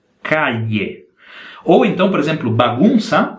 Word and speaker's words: calle: Não é calle, é calle. Procure imaginar o seguinte, pensa na letra I do Brasil, ok? Mas não é exatamente calle. E pensa na LH do Brasil, mas não se pronuncia exatamente calle. É uma mistura entre a I e a LH.